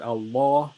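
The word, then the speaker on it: الله: reason why is because this lamb of allah is heavy because before the word allah there is a fatah on on the moon so you say in allah and the wrong way to say it would be to make it light which would be makes it light which makes it wrong once again um before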